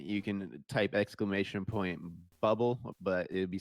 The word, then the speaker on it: Böbl: this up I I'm pretty sure it is pronounced bubble I think that the the o with the umlot is uh it's similar to the sound of the E and the word her like the sound so yeah it's bubble in German but yeah I think